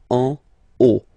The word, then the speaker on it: en haut: Okay, final T not pronounced, and then this H as previously, you don't pronounce it, so this is O. En haut.